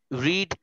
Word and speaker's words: read: রিডের past ফর্মটার উচ্চারণ হবে রেড, past participle উচ্চারণটাও হবে রেড, কিন্তু বানানটা সেম, ঠিক আছে?